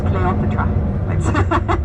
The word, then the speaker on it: Cleopatra: making the movie Cleopatra oh so cute how they say it to German I have to tell you it's cleopetra I always love that one um so Cleopatra had Richard Taylor and